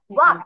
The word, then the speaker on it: walk: এখন এই চারটা দেখি রোয়াইকে আমাকে পড়ে শোনাতে পারে কিনা, ওয়াক থেকে।